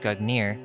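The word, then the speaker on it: Gungnir: the past Nordic gugnir Old Norse gugner swaying pronounced gugnir is the name of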